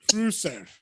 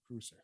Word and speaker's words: Kreuzer: Kreuzer. So yeah, it's spelled like Kruger, but with an S, so Kreuzer.